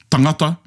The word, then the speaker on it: tangata: Reo Māori only, because the rest of the Pacific, they stress in different places.